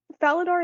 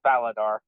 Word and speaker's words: Faladar: Valadar, is that how you pronounce your name? I'm gonna assume that's how you The pronounce your name. technical pronunciation is Faladar.